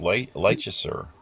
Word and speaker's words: Leicester: musical artist based out of, I think it's pronounced Leicester, England.